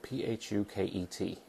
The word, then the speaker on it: Phuket: were on the island of Phuket and Phuket is spelled p-h-u-k-e-t but it's pronounced Phuket so say it how you want to say